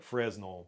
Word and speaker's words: Fresnel: I think it's the Fresnel is, it looks like Fresnel, but it's somebody's last name and it's pronounced Fresnel.